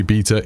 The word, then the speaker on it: beta: way I pronounce beta, in English, the correct way to say beta is beta. I know in America and some other countries you say beta. Fair enough, we all say things differently.